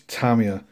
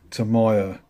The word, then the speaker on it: Tamiya: UK decals not decals same as this tamia not Tamiya somewhere heavy tamia decals